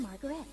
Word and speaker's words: Margarete: I'm Margarete. Margarete! I'm Ike. Ike Kush. Honestly, if she didn't pronounce her name, I'd probably just call her Margaret.